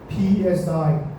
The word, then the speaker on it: psi: You pronounce P PSI. Okay. this green alphabet. Okay, the P doesn't pronounce so it pronounce as C.